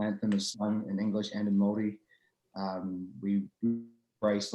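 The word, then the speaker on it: Māori: yeah so um our native new zealanders are maoris about m-a-o-r-i we pronounce the maori so my my dad um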